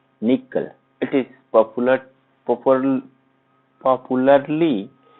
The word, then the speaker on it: N1QL: is security language and it is basically pronounced as a nickel it is popular purple